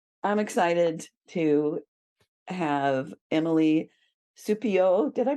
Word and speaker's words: Supiot: the night so I'm excited to have Emily supio did I pronounce that right you did Frenchy Frenchy it's